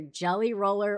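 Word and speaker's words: Gelly Roll: even say it right it's either jelly roller or gel roll it's jelly roll my jelly roll white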